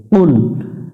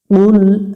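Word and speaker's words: قُلْ: এটা জেহব্বার গোড়া থেকে একটু মোটা করে উচ্চারণ করতে হবে পাতলা করা যাবে না এখানে আমরা অনেকজনেই পাতলা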